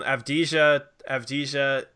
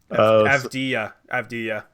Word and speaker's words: Avdija: Avdija. Yeah, see, I thought it might be that. The J is silent.